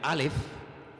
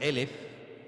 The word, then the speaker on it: alef: o la letra Perdón la letra alef que se puede también pronunciar por elef que significa 1 entonces